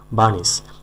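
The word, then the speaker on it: burnish: বার্নিশ, আরের উচ্চারণ হবে না। বার্নিশ, বার্নিশ, বার্নিশ না, বার্নিশ।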